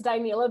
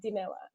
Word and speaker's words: Dinela: you know it's fine many people think it's die Milla because that's how we should probably pronounce it in English but it's it's a Italian name so it's like denilla it's if it's hard